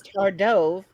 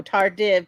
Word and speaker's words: tardive: she spelled out is tardov dyskinesia oh I don't know or if it's really oh tardive dyskinesia there you go dyskinesia Dove like the bird it is dove tired